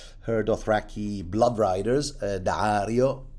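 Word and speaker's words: Daario: Dario, that's how I pronounce it. Dario, it's got two A's, so and and an apostrophe in the middle.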